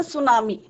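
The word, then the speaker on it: tsunami: Chapter के द सुनामी, टी इसमें silent रहता है, सुनामी।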